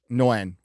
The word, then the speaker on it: Nguyen: Nguyen. Thank you, Asian person, for pronouncing Asian name for white boy here.